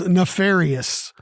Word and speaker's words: nefarious: The word of the day is nefarious.